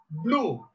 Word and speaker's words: blew: It is blue. Blue, the pronunciation is blue.